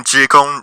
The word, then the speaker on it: Jekyll: Why do I say Jekyll? Because it's the correct Scottish pronunciation.